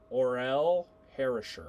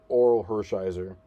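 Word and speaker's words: Orel Hershiser: Oral Harisher. Oral Oral Hershiser. Yeah. See, told you I pronounce it wrong.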